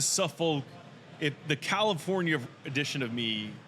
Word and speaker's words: Suffolk: How do you pronounce it? Right. Say it one more time. Suffolk Punch Brewing. Suffolk. It's like, that's a very southern thing.